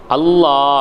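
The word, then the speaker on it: الله: உதாரணமாக நான் சொல்கிறேன், அல்லாஹ் அப்படிங்கிற ஒரு வார்த்தை இருக்குது. அல்லாஹ் அப்படிங்கிற ஒரு வார்த்தை இருக்குது. இந்த அல்லாஹ்ங்கிற வார்த்தை இருக்கு இல்லையா, இந்த அல்லாஹ்ங்கிற வார்த்தையை சில இடங்களில் நாம் வல்லினமாக உச்சரிக்கணும், சில இடங்களில் மெல்லினமாக உச்சரிக்கணும்.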